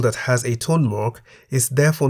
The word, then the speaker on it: มา: Both syllables begin with a localess consonant ma and are therefore in the middle tone.